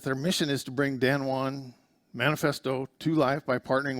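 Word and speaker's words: Danone: your billfold okay now here's an example of dan and that's actually pronounced dan juan it's a french company so they this is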